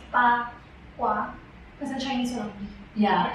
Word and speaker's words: bagua: So the bagua, it's actually pronounced pa-kwa, because in Chinese one.